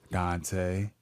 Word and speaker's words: Donte: I'm also Donte, like the poet, only better. And it's spelled Donte, not Dante.